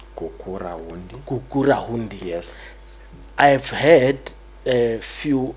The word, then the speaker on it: Gukurahundi: Someone told me, please correct my pronunciation. Kakira Hundi. Kukura Hundi.